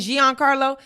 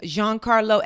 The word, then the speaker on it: Giancarlo: This whole time I was saying Giancarlo. That is not how you pronounce his name. You pronounce his name Giancarlo Esposito.